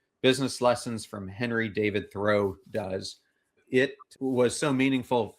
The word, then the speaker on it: Thoreau: Thoreau.